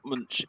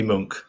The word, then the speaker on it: Munch: on the pronunciation here i've always said it's always called lunch but it's no no it's definitely definitely monk um yeah so edward